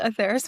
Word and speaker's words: Aetheris: And Angeley, you are the founder and CEO of Aetheris Ventures. Am I pronounced that correctly? Yes, Aetheris Ventures.